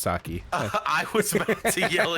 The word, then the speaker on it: sake: I know it's pronounced sake.